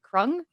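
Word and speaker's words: Kreung: they're called the the i don't want to mispronounce it but it's like crung c-r-e-u-n-g um they when their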